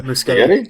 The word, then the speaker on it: Muschietti: you give the 2017 film directed by Andy muschietti am I saying it right most giddy okay so machete for those of you have never participated in